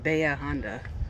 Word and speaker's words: Bahia Honda: to say they oh they say it's commonly pronounced Baya Honda I know but here Honda is one of